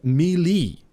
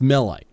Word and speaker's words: melee: nine melee or as some people would pronounce it as I'm sure somebody's gearing up to say drongo you're still mispronouncing that word uh mili he has nine Miley nah mate it's melee it's a bloody melee out here uh you